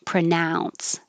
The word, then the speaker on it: pronounce: you pronounce pronunciation and the oh you is ow pronounce and in number seven